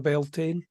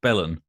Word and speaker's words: Beltane: thing of yeah a bit more of a built-in type so is that pronounce Beltane it's not pronounced Bellon no it's definitely built in I guess it